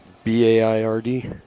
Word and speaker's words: Baird: Was it Byard or Baird? I'm not sure how you say that, partner. B-A-I-R-D? Yeah, I think that's Baird.